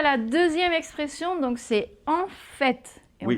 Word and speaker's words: en fait: Donc, c'est en fait. Et Oui. on prononce aussi le T. Oui, et attention, alors l'autre c'était au, fait, et là c'est en, avec la nasale, en, hein, en fait.